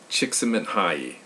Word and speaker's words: Csikszentmihalyi: Let me pronounce that again. Mihai Csikszentmihalyi.